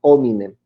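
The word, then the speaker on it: ad hominem: es ataque de eminem en latín la h no se pronuncia a eminem a la persona y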